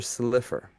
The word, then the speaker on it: Slifer: Roger Slifer. It looks like Silver, but it's Slifer.